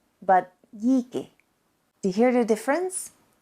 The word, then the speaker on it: díky: And therefore, the word thanks, díky, is not pronounced díky, but díky.